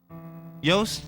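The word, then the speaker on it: Yost: and they would win Yos rhymes with boast and that's what he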